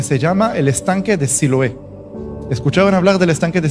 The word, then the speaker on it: Siloé: los ojos en un lugar llamado eh Siloé. En hebreo se pronuncia Shilo y ahí Juan,